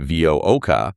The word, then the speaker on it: VUCCA: So, Dr. Barnard spells it VUCCA. He pronounces it VOOCA, but he adds a second C right in the middle.